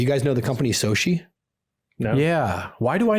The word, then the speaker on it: SOCI: How do you spell it? Soshi, SOCI.